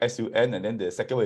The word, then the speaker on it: Sun: So this S-U-N is pronounced as Sun and not Sun. Because S is pronounced as Si, then U-N is Un, so Sun.